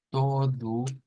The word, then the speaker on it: todo: vamos con otra vez palabra que termina en U que no va a sonar a todo sino que va a sonar a todu todu eh es si